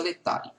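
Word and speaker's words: Laetare: O domingo da Gaudete e o domingo Letare, que se escreve lá, Etare, a pronúncia Letare, né?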